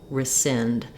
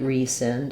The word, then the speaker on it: rescind: So in the word rescind, we have second syllable stress. The sind syllable is stressed, and so my letters RE are going to say a reduced vowel, rescind. You may hear people say rescind as well with the E sound, but the important thing here is that the sind is long and this first syllable is going to be quite short.